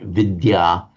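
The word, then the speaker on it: विद्या: So vidya the and the y pronounced separately in Sanskrit vidya and that's the one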